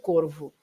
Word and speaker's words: Corvo: You know that people from the north tend to pronounce the V as a B, but Ilha do Corvo.